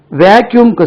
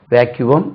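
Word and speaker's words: vacuum: cleaner வாங்க வேண்டி இருக்கிறதுன்னு இதுக்கு ரெண்டு உச்சரிப்பு வேக்யூமம் இது தவறு விசி um ஜெனரலா இல்லையே சார்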